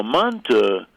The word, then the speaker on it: manti: Now, manta, which is manti, except that you pronounce the I as a and manti, manta are Turkish.